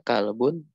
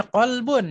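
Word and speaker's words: كلب: Namun hada kalbun wa dzalika qittun. Nah, hada kalbun wa dzalika qittun. Jangan bacanya qalbun ya, atau qalbun baca kalbun.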